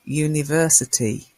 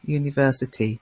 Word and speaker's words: university: you notice it's uh even though it begins with a U and that's because this you takes the new sound like y-o-u a university not an universe a university so we have exceptions